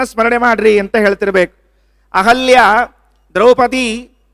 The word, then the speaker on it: ದ್ರೌಪದಿ: ದ್ರೌಪದಿ ಯಾಕೆ ಹೇಳಲಿಕ್ಕೆ ಬಂದೆ ಅಂದ್ರೆ ದ್ರೌಪದಿ ಅಂತ ಉಚ್ಚಾರಣೆ ಮಾಡಬೇಕೆ ಹೊರತಾಗಿ ದ್ರೌಪದಿ ಅಂತ ಉಚ್ಚಾರಣೆ ಮಾಡುವ ಹಾಗಿಲ್ಲ ಅದು ಅಶಾಸ್ತ್ರೀಯವಾದದ್ದು ಅದು ಹಾಗೆ ಪ್ರಯೋಗ ಇಲ್ಲ ಈ ಪಂಚಕನ್ಯ ಇದು ಪಂಚಕನ್ಯ